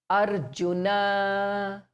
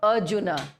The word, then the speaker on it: Arjuna: Ra, not like the English say, we are going. So we are, we don't say ra because that's English. In Hindi and in Sanskrit, ra is pronounced very clearly. Arjuna. So it's not Arjuna in English.